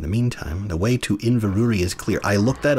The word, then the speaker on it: Inverurie: do that in the meantime the way to Inverrary is clear I look that up on Wikipedia and according to the international phonetic alphabet it is pronounced Inverrary yeah that should have said